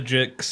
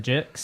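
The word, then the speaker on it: Jicks: The Jixs. I don't think it is offensive, but like just saying it, it's Steven Malchemist and the Jixs.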